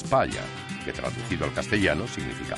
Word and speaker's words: Palha: Pala se pronuncia en portugués palla, que traducido al castellano significa paja.